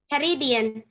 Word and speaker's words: Caridian: i think you're muted it's caridian is that how i say it correctly hi yes my name is caridian it's lovely to meet